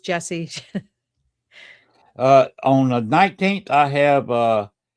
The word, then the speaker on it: Jessiy: It's IY, but it's pronounced Jesse.